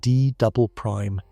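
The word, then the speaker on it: D″: It is called the D layer, pronounced D double prime.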